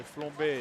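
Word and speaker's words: flambé: You have to say it in a French way. So flambe.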